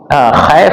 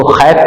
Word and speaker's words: خیف: خیف کو بعض لوگ خیف پڑھتے ہیں خا کے کسرہ کے ساتھ، جبکہ اس کا صحیح تلفظ ہے خیف، مسجد خیف.